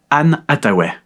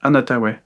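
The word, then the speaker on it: Anne Hathaway: En 7e position Anne Ataw, c'est comme ça qu'on prononce Ann Ataw.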